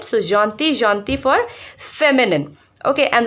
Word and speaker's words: gentil: Okay, now gentil, gentil, double L is not pronounced in French, so gentil, gentil for feminine.